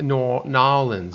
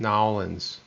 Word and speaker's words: New Orleans: Did you say New Orleans? Nolans is how they say it. Nolans.